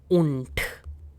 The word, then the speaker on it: und: Now between dry and swansish, I'm going to insert this word called un which means and.